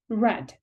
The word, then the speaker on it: read: like the base form the past participle form is pronounced as red let's look at the